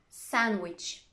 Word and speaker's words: sandwich: about the letter d it can be silent too wednesday sandwich handsome i'm not pronouncing the d i'm not saying sandwich i'm just pronouncing the consonant and sound before it try it with me